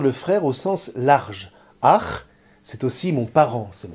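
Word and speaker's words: אח: Vous voyez, le mot frère se construit sur la racine aleph, chet, et se prononce ach.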